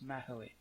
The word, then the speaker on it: Mahoe: I looked up how to pronounce this. Blue Mahoe? Yeah. Maho. I think it's 3 syllables. Mahoe.